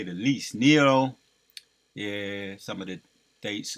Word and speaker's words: Nero: I was calling IM Neo in my video yesterday so I I'll make a correction on that it's Nero right that's how you pronounce it Nero he would force people